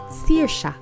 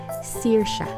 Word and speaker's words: Saoirse: That's how you pronounce my name, Saoirse. It's a Welsh name. So if you would want to pronounce it, Saoirse, Seer as in S-E-E-R, and Sha as in S-H-A, Saoirse.